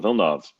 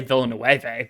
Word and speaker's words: Villeneuve: I want to say Villeneuve, but I know it's not. Like how you pronounce it. It's Gilles Villeneuve. Villeneuve.